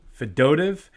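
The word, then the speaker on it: Fedotov: they extended um Ivan fedot fidotv I think is the the pronunciation that everyone landed on fedo I'm sure it'll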